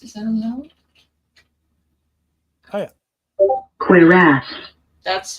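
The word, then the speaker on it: cuirass: Quir. That's how it's pronounced.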